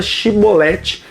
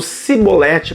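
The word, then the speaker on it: shibboleth: que usei frame Tás eles não conseguiam pronunciar a palavra shiboleth eles pronunciavam com o s dizendo cebolete por quê Porque o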